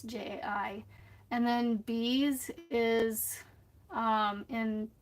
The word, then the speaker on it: Jai: So JAI is basically just the way you say the letter J spelled out.